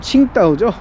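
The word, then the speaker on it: 青岛: 싶어하는 거죠 그래서 중국 산동반도의 청도 중국식 발음으로는 칭따오 칭따오를 얻게 되고요이 칭따오의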